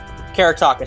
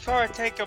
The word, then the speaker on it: karateka: sorry sorry sorry karate karataka sorry karate practitioners if i butchered that um uh it's kara taker but you could have